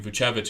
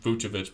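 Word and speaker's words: Vučević: in buchevich um sorry i go back and forth between vucevic and buchevich because i've heard it pronounced both ways but i am still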